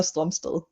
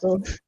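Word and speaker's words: Strømsted: like with the Danish complete Mm-hmm. pronunciation, it's Noah Stromsted. Strumst. Okay. Yeah, I feel because like it has like the O with the line in it, yeah. like the Danish letter.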